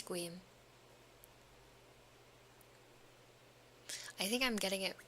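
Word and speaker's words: Sequim: It's squim? Squeam? That just looks like a abbreviated version of Skyrim. It's Squeam.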